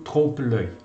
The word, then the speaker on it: trompe-l'œil: grandes obras decorativas, e que são obras do trompe-l'œil.